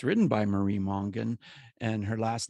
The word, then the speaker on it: Mongan: And it's written by Marie Mongan. And her last name is spelled Monga. Is it Gan or Gon? GAN. Gan, Marie Mongan.